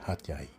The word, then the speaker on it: Hat Yai: Sounds like the word of the equivalent word of domestic helper or achay in Filipino, but it's more or less pronounced at Hatay, Hatyay.